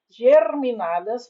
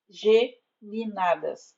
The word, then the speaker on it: geminadas: ou brotam do Sol a forma correta na fala na escrita é casas geminadas ou casas conjugadas como